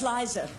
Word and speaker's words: Liza: it's really simple see look it's Liza with the seat not Lisa with the nest cusp Lisa women esko's